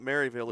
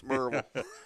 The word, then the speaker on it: Maryville: Well, I tell him it's not Maryville, it's Merville.